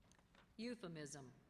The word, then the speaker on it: euphemism: Are there any alternate pronunciations? No, there are not. Alim. A-L-I-M. Alim. That completes round 23. Euphemism.